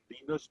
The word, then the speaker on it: Linus: Well, actually it was invented by Linus Torvalds.